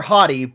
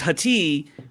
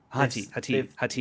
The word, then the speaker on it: Hati: I don't want to call her Hottie, but Hottie. It's Hati. Oh my gosh! But Diana Lee Inosanto is Morgan Elsbeth, and it's Hati. But that's how you pronounce it. Sati, yeah, Hati.